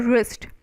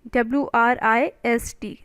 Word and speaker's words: wrist: watch in this the spelling the pronoun the pronunciation is your wrist w is your silent isn't it w is for w is your silent but the spelling is what is the spelling w-r-i-s-t wrist all right next is fizzle w-h-i-s-t-l-e whistle